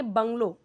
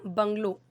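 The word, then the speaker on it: bungalow: ये देखिए बंगलो, ये क्या, बंगलो, ठीक है, इसे बंगला नहीं बोलेंगे, हिंदी में बंगला होता है, इसी उसी को अंग्रेज़ों ने बंगलो कर दिया।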